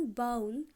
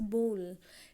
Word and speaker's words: bowl: इट्स नॉट बाउल, इट्स बोल. It's pronunciation is बोल.